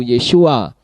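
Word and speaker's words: ישועה: Sedangkan bentuk feminimnya adalah Yesua dengan huruf akhir yang ada huruf H-nya yaitu menjadi yod syin wa ayin he. Namun demikian membacanya tetap sama yaitu Yesua dan huruf H-nya tidak terdengar.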